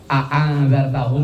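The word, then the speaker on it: أأنذرتهم: A angzartahum itu dibaca A-nya cuman sekali boleh, tapi harus panjang.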